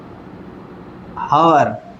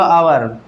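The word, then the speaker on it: hour: लेकिन मान लीजिए आपका हुआ हावर, ये हुआ आवर, तो ये इसमें लेटर तो आपका कॉन्सोनेंट है, लेकिन इसको प्रोनाउंस करने से आपकी वॉवेल साउंड निकलेगी।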